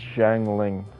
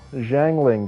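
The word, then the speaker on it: Xiangling: And by the way, the way you pronounce her name is Jang Lling, by the way. So, Jang Lling guys, what do you guys think about Jangling?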